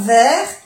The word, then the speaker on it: verre: Quelques está en el plural porque hay varios vasos y hay plusieurs verres, donc c'est au pluriel. Quelques verres et quelques tasses. Verre, no se pronuncia la E y la S es del plural.